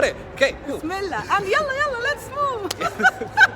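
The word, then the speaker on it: يلا: And yalla, let's move.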